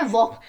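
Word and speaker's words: walk: देखो कहां पे क्या लिखा है वॉक हम क्या बोल रहे हैं वॉक हम वाल्क बोल रहे हैं हमने एल बोला नहीं तो हम यहां पे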